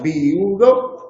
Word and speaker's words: viudo: Cada uno puede pronunciar, se puede pronunciar viudo en 3 sílabas, viudo, o en 2 sílabas, viudo.